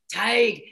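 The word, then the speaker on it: Tadhg: again for me hike tag see now you beautiful irishmen say it perfectly they pronounce the hg they tag well hello yeah if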